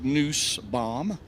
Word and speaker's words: Nussbaum: I mean, it's pronounced either way. I've heard several times, but he prefers Nussbaum.